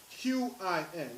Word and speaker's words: Qin: Xia, Xia, Shang, Shang, Zhao, Zhou, Qin, Qin, is pronounced is Qin, Han, Han dynasty.